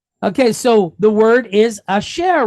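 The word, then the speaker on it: אשר: And then we have three dots, segol with resh. So sh, er, share. So asher. Okay.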